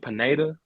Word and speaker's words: Pineda: Some people I accept like Pineda.